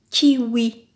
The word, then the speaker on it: kiwi: Premier mot, par exemple, kiwi. Kiwi. Oui. Oui. Ou.